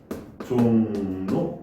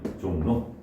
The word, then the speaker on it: 종로: 발음이 어떻게 돼요? 종로 이렇게 되죠. 종로.